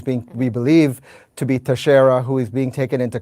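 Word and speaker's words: Teixeira: a Portuguese name so the X would be pronounced like an s anywho 21 years old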